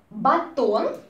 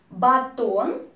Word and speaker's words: батон: Батон, бублики, булки. These are a kind of bread, just bread, okay? Все, еще раз говорю по слогам всю скороговорку. У бабульки батон, батон, ударение, да, на О.